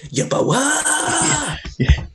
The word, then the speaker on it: Yeboah: Hang on, you pronounced his name wrong there. It's Yeboah! Yes, off the crossbar.